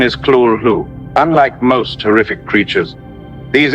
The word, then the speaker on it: Cthulhu: However, Lovecraft wrote that the closest pronunciation is Cthulhu.